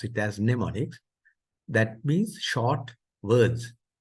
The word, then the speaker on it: mnemonics: So mnemonics, the M is silent, so you pronounce it as mnemonics.